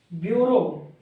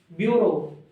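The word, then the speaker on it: bureau: में आ रही है दो जगह यू की साउंड आ रही है लेकिन अपन प्रोनाउंस कैसे करते हैं ब्यूरो ब्यूरो ओ आता है आखरी में तो बी र बी के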